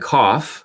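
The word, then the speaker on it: KOF: coordinate observability and finops that's KF and cough as I pronounce it provides insights into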